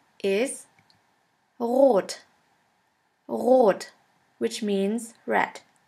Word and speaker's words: rot: And the German word with the letter R is rot. Rot, which means red. S. S is pronounced like the sun.